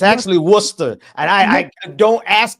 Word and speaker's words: Worcester: Ashley Spring, who was a candidate for the Warchester Worchester Bend. And that's your city. You know, it's actually Worcester.